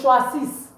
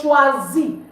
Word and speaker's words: choisis: You don't say je choisis. No. It's je choisis. The S is not pronounced, meaning I choose or I am choosing.